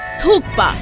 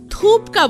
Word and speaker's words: thukpa: जिसे आप में से बहुत सारे लोग थूपका बोलते हैं। लेकिन यह थूपका नहीं होता थुक पा होता है।